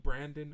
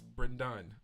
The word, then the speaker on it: Brendan: As someone that's a Brendan, I don't necessarily mind people calling me Brandon or Brendan, but it's just like, no, it's Brendan.